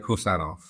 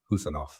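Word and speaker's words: Khusanov: It's Abdulkadir Husanov. So it's like who, as in that you say, who is that? Husanov.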